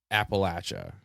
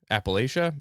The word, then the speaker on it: Appalachia: to be talking about Appalachia Appalachia Appalachia it's pronounced either way and uh okay from